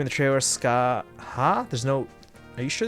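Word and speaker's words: Scáthach: I think it's Skaha from what it sounded like in the trailer. Yeah, the T in the middle is not pronounced. Although, I guess I was saying Skahach.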